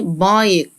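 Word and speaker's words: bike: بنانا بنانا عجله يعني بايك الاي في الاخر ما انت اهش ساعد الاي عشان تقول اسمها اي اي باي باي بايك بايك نروح عند حرف ال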